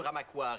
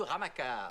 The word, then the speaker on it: Ramaquar: Je préfère qu'on prononce mystérieux Ramaquar et non mystérieux Ramacar. Ramacar. Ramaquar. Car... War.